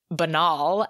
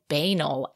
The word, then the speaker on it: banal: We also mispronounced banal. It is actually banal and I said banal and I have been going through my whole life knowing that word is banal.